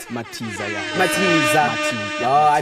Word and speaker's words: Matiza: dress up and address me about pronouncing his surname wrong, maybe. How you doing? I'm good. How you doing? It's Matiza, right? Matiza, yeah.